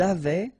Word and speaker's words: avaient: Ils avaient, so look here, E-N-T, you write them, you don't pronounce them.